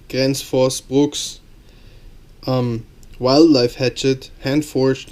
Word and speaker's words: Gränsfors Bruks: axes that are out there this is the gr Force Brooks or how it's actually pronounced Grand Force Brooks um Wildlife Hatchet Hand Forged in Sweden this